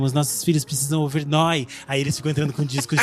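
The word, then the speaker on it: Neu!: Então se escreve Neu, a exclamação A, mas quer dizer Noia.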